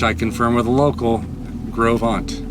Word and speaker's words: Gros Ventre: She said Gros Ventre, which I confirm with a local, Gros Ventre, which is very close to the French. You're just not doing the part. Gros Ventre.